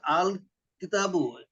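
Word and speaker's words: الكتابُ: এইখানে এটা উচ্চারণ করেন আল কিতাব না না পুরোটা পড়তে হবে পুরোটা আল কিতাবু হ্যাঁ আমাদের এই ক্লাসে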